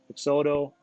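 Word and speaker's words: Peixoto: No, it's Brazil. It's Portuguese kind of Pixoto.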